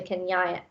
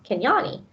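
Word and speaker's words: Kinyani: be back I tell Ivan I run to Kenya Kenya knee can Yanni sorry I keep saying that name wrong can Yanni he's good totally good the look of joy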